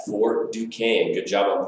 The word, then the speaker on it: Fort Duquesne: Fort Duquesne. Good job on pronouncing it correctly as well.